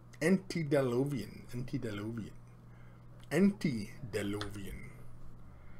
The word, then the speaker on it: antediluvian: you did dark mission pronounced aunty down low beam and refers to Biblical Flood antediluvian until LOV aunty you